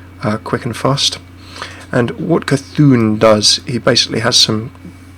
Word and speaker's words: Cthulhu: So many pronunciations. Cthulhu, Cthulhu, I believe is the way that's pronounced.